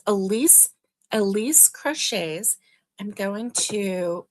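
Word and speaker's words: Elyse: E L Y S E Crochets is the um Let's see. Timer off. Okay, so it's Elise Crochets. That's how it's spelled.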